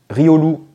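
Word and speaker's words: Riolu: se trompe sur celui-là et bien on dit rioolou voilà Rio bah c'est un diminutif de Cario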